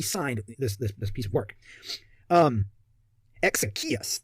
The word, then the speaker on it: Exekias: Exekias, that's how it's pronounced.